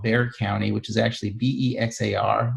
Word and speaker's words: Bexar: County, which is actually Bexar, which is a Spanish term. Mm-hmm. I've been pronouncing it wrong all these years. Yeah, it's you can tell the people from Chicago when they call it Bexar.